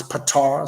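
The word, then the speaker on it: Ptah: talks about the deity some pronounce pitar some sait RPTA H it says Todd thought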